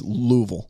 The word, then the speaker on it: Louisville: phonetically it's three syllables if you're from the south it's about one and a half it's about one and